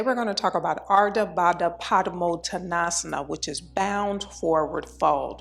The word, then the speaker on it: Ardha Baddha Padmottanasana: Ardha Baddha Padmottanasana is pronounced Ardha Baddha Padmottanasana. Ardha Baddha Padmottanasana.